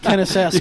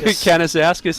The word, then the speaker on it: Canisius: on say his name i've got hayden kenneth's house canisius is the pronunciation how's the footy half forward goes to the pocket still outside the 50.